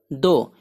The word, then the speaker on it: though: THOUGH दो, इसको पढ़ते हैं दो अगरचे ताहम या गो।